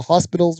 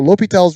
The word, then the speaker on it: L'Hôpital: do that we use l'hopital's Rule and the H is silent sometimes there's an S that's silent as well it's not in the hospital's rule lopi tells rule so lopital's rule says just like